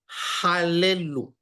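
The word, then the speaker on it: הללו: Hal le. Hal le. Y la tercera sílaba queda normal. Otra L y una U. Halelu.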